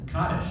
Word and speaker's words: Kaddish: So here we are today to talk about this book, A Daughter's Kaddish.